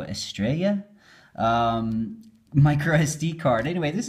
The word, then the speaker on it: Estrella: I'm assuming it's a Spanish sort of pronunciation, so the double L will be ya. So Estrella.